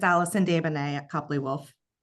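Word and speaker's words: Desbonet: Yeah, it's Allison Davana at Copley Wolf. And spell that please.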